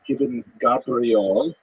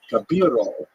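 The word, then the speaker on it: Gabirol: pointed out to me it's not I Gabriel it's gabiro or gavo it's I put the i in the wrong place so I changed everywhere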